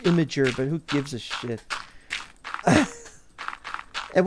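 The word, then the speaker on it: Imgur: was probably on imer which is actually supposed to be pronounced imager but who gives a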